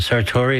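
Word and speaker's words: Sartore: herself, but um Joel, is it Sartorii? Is that how you pronounce it? Yeah. Who does the photo art?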